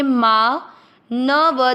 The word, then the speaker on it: मानवः: थोड़ा अधिक समय देंगे, माँ। न व दोनों अक्षर में अ मिक्स करेंगे, मानव। व में अ की मात्रा तो विसर्ग को पढ़ेंगे, ह, मानवः।